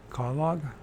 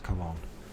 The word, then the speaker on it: Cologne: These words, they got more than 2 syllables in it. I just stumble. Cologne. Of course, it's Cologne.